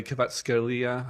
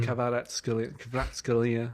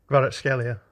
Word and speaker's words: Kvaratskhelia: Yeah, he like against Napoli, he was bodied by Kvaratskhelia. I've said his name wrong. Kvaratskhelia. I love that guy. Say it for us, John. Kvaratskhelia.